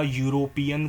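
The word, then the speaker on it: European: अब अ यूरोपियन country you ये इ वोवेल है बट साउंड क्या कर रहा है? पूरा पूरा प्रॉपर यू साउंड कर रहा है। यू यूरोपियन कंट्री इनके आगे भी ए आएगा।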